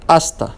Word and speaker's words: hasta: oh la prohibida and hasta okay the you the i surday H is not pronounced it's silent they mean respectively hello